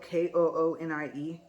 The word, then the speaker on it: Koonie: talk, and it's spelled K-O-O-N-I-E. I think it's pronounced Koonie, like raccoon but with a K.